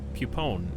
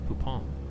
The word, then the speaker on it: Poupon: you say cons why so fancy it's like great boupon it's not it's not it's not pupon it's poupon literally just canned why